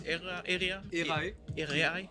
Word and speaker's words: Erae: of stage so uh er era it's era area yeah because we as